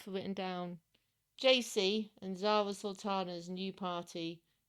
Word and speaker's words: Zara Sultana: Zultana. Sultana.